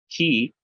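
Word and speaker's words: χῖ: Ki, it's like a, well, think of the word lock, CH. It's still like a KH sound, Christos.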